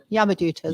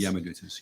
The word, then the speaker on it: Yamadutas: Yamadutas. Yamadutas, yeah.